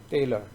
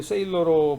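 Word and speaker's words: Thaler: 그래서 이번 강좌에서 세일러 계속 나오는데 이거 갖다가 테일러인데 테일러 세하고 때하고 중간 발음이에요.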